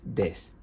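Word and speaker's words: です: E este verbo, el verbo ser, en su forma afirmativa formal es des. Recordad que esta u no suele pronunciarse. Suele ser una u suave, a veces la veréis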